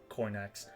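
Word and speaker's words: Coinach: Oh, that's how you pronounce Coinax. It's like cognac.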